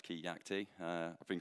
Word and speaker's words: Keacte: introduce myself um so my name's kayak t um pronounced key yak t uh i've been called